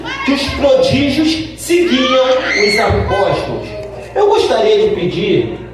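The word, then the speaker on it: ἀπόστολος: Então, a pronúncia no grego fica assim: apóstolos, no grego, tá?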